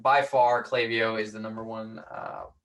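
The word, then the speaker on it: Klaviyo: to use email marketing oh like by far clavio is the number one uh number one thing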